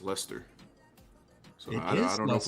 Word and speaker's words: Leicester: Oh, and I did confirm with a few of my Brits, it is in fact pronounced Leicester.